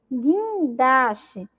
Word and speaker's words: guindaste: Olha lá, caranguejo, fogueira, foguete, jegue, águia, guitarra, laguinho, sagui. São aí exemplos de palavras que o U não foi pronunciado, tá bom?